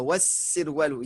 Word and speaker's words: والسروال: Voilà, wassirwalu. Il y a une shadda et non pas de l'âme, on ne prononce pas l'âme.